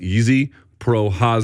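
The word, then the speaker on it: Jiří Procházka: I'm I'm told I am told it is pronounced easy projas this is the ever morphing first name it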